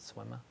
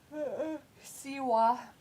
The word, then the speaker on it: Siwa: Is that how you say it? Swimmer? Siwa. It's JoJo Siwa.